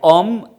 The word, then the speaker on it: homme: So, this is something which I have to mention, like homme, H-O-M-M-O, homme. It is not starting with a vowel, but here H is mute.